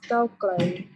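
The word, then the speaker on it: ก้าวไกล: How do you pronounce In it? Thai, it's Cao Klai.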